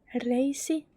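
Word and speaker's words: reisi: we have a thigh it's racy Thai is racing racing racing just remember to pronounce the R's sharper than I do because my arms are not very sharp I went to speech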